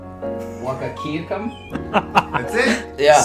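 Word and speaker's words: Wahkiakum: He ran for the county clerk in you can't even pronounce that county's name. Wakakiakum?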